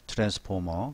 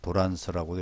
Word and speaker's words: 트랜스: 트랜스포머. 그래서 트랜스포머, 그래서 흔히 트랜스라고 얘기 많이 합니다. 트랜스. 그래서 우리가 일본 발음으로 도란스라고 얘기하는데 우리 트랜스라고 해요.